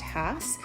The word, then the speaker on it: Hass: video the difference between the hats sometimes people pronounce it Haas but it's actually pronounced Hass and the bacon so there is a big